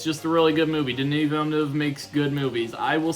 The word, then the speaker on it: Villeneuve: It's directed by Denis Villeneuve, which I think is the right pronunciation. A lot of people get it wrong. Don't do that.